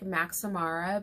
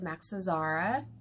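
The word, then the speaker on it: Max Azria: never pronounce it I when people say it sounds like Mac samara but it's not it's like Max's ARA or something like that so I never tried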